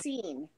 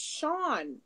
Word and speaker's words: Sean: supposed to be spelled, every teacher out here says "seen." Yeah. I seen. No, it's Sean.